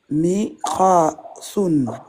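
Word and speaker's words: مقص: Miqasun. Miqassun. Miqasun. Miqassun. T'appuies sur Sod. Miqashun. Là. Miqassun. Miqasun. Miqassun. Miqasun. Voilà. Et à l'arrêt, comment on va le prononcer? Miqas. Très bien. Miqas.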